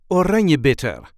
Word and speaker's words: Oranjebitter: a regular Dutch accent Oranjebitter, a Dutch bittersweet liqueur. This is how we say Oranjebitter. Oranjebitter. There is a light emphasis on the second syllable.